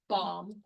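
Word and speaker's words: bombe: So they developed an approach using crib-based decryption via I'm assuming it's pronounced bomb, but it's B-O-M-B-E. So it's not an actual boom bomb.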